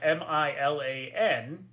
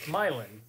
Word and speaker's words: Milan: laugh at you CU in Michigan it's pronounced milin um and there's a